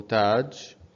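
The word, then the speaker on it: تاج: in this this word you should know how to pronounce it because you already know all these of these three letters ta and alif and jim taj and why we are only elongating the sound of ta here we are elongating the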